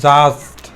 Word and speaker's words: judged: এখানে আমরা দেখতে পাচ্ছি ডি আছে, এই ডিটার উচ্চারণ হবে না। ওকে, তাহলে এখান থেকে উচ্চারণ করব জাস্ট, জাস্ট।